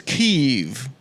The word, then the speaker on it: Kiev: you and of course the correct pronunciation is Kiev you're gonna make Adam